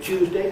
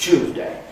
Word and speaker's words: Tuesday: swing of the pendulum, people pronounce the word Tuesday quite often as Tuesday, and they pronounce the word Jew as Jew and so on. But again, you don't need to imitate that at all. You can aim for what the spelling suggests is right, and it will always sound okay, right?